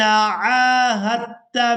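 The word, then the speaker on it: عاهدت: کر دیا جاتا ہے، تو یہاں پر ہم نے ہا کو دال کے ساتھ نہیں بلکہ تا مشدد کے ساتھ ملانا ہے، اور اس لفظ کے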